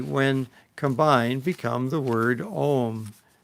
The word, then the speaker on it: Om: And these three, when combined, become the word Om. First pronounce the word Ah, opening your tongue, and then pronounce Oo, and then close the lips and pronounce the sound Well, I think that's experiential.